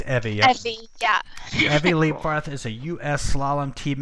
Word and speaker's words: Leibfarth: Leibfarth. Evy Leibfarth is a... What was that, Lewis? I was going to ask if it was Evy, not Evy. It's Evy, right? It's Evy, yeah. Evy Leibfarth is a U.S.